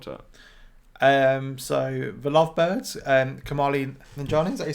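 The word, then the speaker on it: Kumail Nanjiani: So the Lovebirds, Kamali Nanjiani, is that you say his name?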